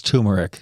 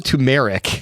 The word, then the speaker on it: turmeric: Yes, it's turmeric. But you can say turmeric if you'd like. It's spelled turmeric. It's odd if you say it, but I'll let you say it. It's spelled turmeric, but it's turmeric.